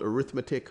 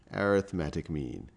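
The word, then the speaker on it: arithmetic: Quando Aritmética é um nome, nós iremos chamar (pronunciar): "Uh rit me tic" .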